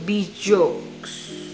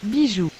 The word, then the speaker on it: Bijou: punya aku nih shade Bijokes. Bijou, kah bacanya? Aku bakal coba pakai Google Translate dan bacanya yang benar kayak gini. Bijou.